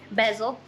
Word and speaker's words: bezel: Alright, so next job I am going to be assembling the hatch bezel, the hatch bezel. It's actually pronounced Bezel. No, it's not, because it rhymes with embezzle.